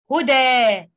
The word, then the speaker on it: هدى: We read it huda, huda. Okay?